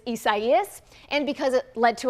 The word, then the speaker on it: Isaias: Number one, because a lot of people were confused about how to pronounce it. It is Isaias, and because it led to a lot of power outages, but it was not retired.